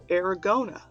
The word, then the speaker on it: Aragona: internet Studio we have aragona like Arizona we discussed how to say his name before we went on air um and